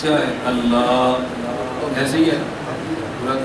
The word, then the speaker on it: اللہ: نے آہ رکھی ہے، آہ جب تک نہ ہو اللہ کا لفظ ادا ہی نہیں ہوتا۔ کوئی شخص بھی اللہ صحیح معنوں میں کہے تو پورے تلفظ کیا ہے؟ اللہ، ایسے ہی ہے، پورا تلفظ کیا ہے؟